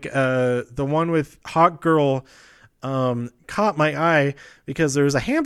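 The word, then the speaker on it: Hawkgirl: It's Hawk Girl. I feel like I'm saying hot and not hawk whenever I know I'm saying hawk, but I'm hearing my own voice.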